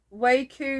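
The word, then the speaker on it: WEKU: one is by it says waco yarn i think that's how you pronounce it w-e-k-u again with the undyed but there's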